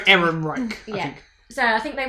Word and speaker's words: Ehrenreich: I think it's pronounced Alden Ehrenreich. Yep. Ehrenreich.